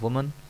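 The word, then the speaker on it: woman: ए के साथ जो होता है उसको हम कहते हैं वुमन, और ये ई के साथ प्लूरल जो है इसको हम पढ़ेंगे विमेन।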